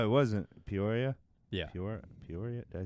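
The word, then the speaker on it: Peoria: Por Poria.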